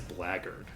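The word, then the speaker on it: blackguard: uh let's see here so it's the two words together of black guard right but for some reason i'm reasonably sure that that's typically pronounced as blaggard and i don't know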